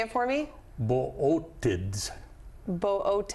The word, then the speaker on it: Bootids: Bootids. Bootids. It looks like bids, but it's boids.